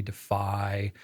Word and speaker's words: Defi: I mean, we've been up for debate, like, is it Defi, Defy, but I think Defi is more the Defi. slightly more of the French way to pronounce it.